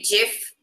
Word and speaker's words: GIF: Right, because at the same time, the creator says it's GIF, but it stands for graphics interface. So it's a hard G that it stands for, so it makes sense that you would call it a GIF.